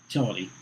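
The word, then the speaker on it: Youtility: And basically the premise of this book, Utility, and it's spelled Y-O-U-T-I, Utility, is if you can't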